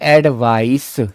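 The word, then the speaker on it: advice: तो बेटा ये है एडवाइस, से लगता है इसमें, और ये है एडवाइज, इसमें जय लगता है।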